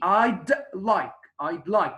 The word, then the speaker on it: I'd like: You have to, press on pronouncing the D. I'd like, because it's very different when you say I would like or I like.